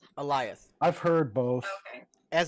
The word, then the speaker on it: Alioth: As they pronounce it on the show, it's Alioth. Okay. Yeah. I went back and watched to make sure. It's like lion, but instead of an N, it's got a TH at the end, and there's an A in front of it.